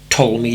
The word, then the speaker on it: Ptolemy: In fact, he's an architect, Ptolemy Dean. I know, it's spelt with a P.